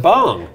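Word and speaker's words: Bhang: Yes, it's spelled B-H-A-N-G, and that's actually pronounced bong. Correct. There's pronunciation issues in this industry. Yeah, I'm going to not wade into those waters, but we have a joint venture with them. You say bang, I'll say bong.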